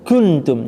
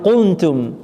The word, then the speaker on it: كنتم: Ikhwa itu cara bacanya jadi begitu disamar, wa in, persiapan mulutnya itu mengucapkan huruf kaf. Ya, wa in kuntum, jangan kuntum ya. Kalau kuntum qaf. Ya, jadi kuntum ka ki ku.